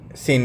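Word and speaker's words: Seine: अब देखो 74 which one ऑफ the following cities is located along the साइड of river सीन सीन इसको pronounce कर सकते हैं।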